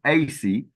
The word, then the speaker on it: Ase: Well, in Ghana, a woman who is born on a Sunday is called Asi, A-S-E, Asi. So that's how they pronounce it.